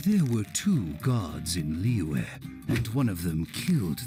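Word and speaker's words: Liyue: last things like with the freaking pronunciation of like leeway and all that you know sometimes like the even the characters in game all pronounce it differently sometimes they say leeway or something say liu or leeway it every single character seems to pronounce it differently it's like the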